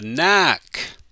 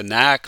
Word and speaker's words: knack: the same letter a knack the first k is silent we don't pronounce it jennifer has a knack for organizing parties our